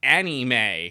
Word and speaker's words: anime: they had in parenthesis pronounced anime like a n i m a y because like back then